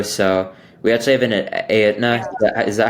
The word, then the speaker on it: Aetna: I'm in Chicago, so we actually have an Aetna. Yeah, Is that how you say it? Edna, yeah.